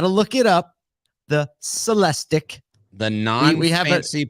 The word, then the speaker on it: Celestiq: because we had to look it up the celestic the nine we haven't seen pronunciation word how should it be pronounced celestique like you got it does sound a little